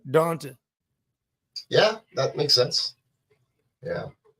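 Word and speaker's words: D'Ante: I mean, it's D apostrophe Ante. Anta. Okay, that's what it is. D apostrophe Anta. Now I'm pronouncing it correctly. Yeah, I'm pretty sure it's Donta, which is weird, right? It's just weird when you think about No, it. it's Southern. Donta.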